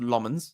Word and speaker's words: Lammens: We got Lmens who's coming in and it is pronounced Lmens. He said it himself. Uh but Senny Lmens is coming in.